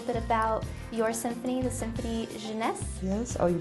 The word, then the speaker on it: Symphony Jeunesse: Can you talk a little bit about your symphony, the Symphony Jeunesse? Yes, oh, you pronounced that so beautifully, thank you.